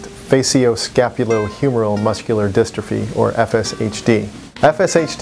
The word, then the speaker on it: facioscapulohumeral: I'm out you done actually the word is pronounced faio scapulo humoral muscular distrophy or fshd fshd is a disease